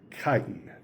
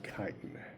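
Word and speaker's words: chitin: Fungi always have a cell wall with something called kiten.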